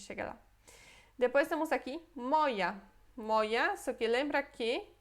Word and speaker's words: moja: Então, se você escrevesse assim, moja, em polonês a gente ia ler isso moia, moia, tá? Porque é som de y é y. Agora, a palavra moja se escreve assim, com J.